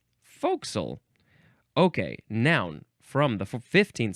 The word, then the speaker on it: forecastle: This pronunciation is forecastle. Forecastle? You could say forecastle. Oh, yes, forecastle, because you can spell it F-O''C''SLE, because we couldn't say forecastle. We had to shrink it down to forecastle.